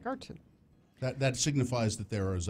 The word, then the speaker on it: Garten: It's no D, it's a T. Garten.